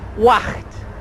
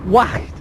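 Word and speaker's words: Waag: It's called Wacht. Well, I'm told that's how you pronounce it. W-A-A-G. Wacht.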